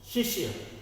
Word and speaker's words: शिष्य: शिष्य, ये श का तो उच्चारण है लेकिन इस श का उच्चारण हमारा कम है।